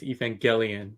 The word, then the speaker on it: Evangelion: you gotta be accurate it's a hard G is Evangelion you get oh thank